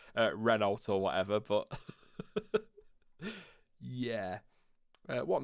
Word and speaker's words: Renault: that says alpine yeah it's like people that say uh reynolds and reno yes reynolds there i know that one winds me up so i yeah i'd